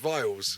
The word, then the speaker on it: Byles: So we've got a German pronunciation for the surname, Byles.